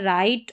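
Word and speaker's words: write: यहां पर डब्ल्यू जो है इसको पढ़ा नहीं जाता। यह साइलेंट रहता है। राइट और रिस्ट करके प्रोनाउंस किया जाता है।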